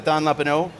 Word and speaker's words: Thanh Lepaux: And we're joined also by Thanh Lepaux from Lutron. Did I pronounce that correctly, I hope?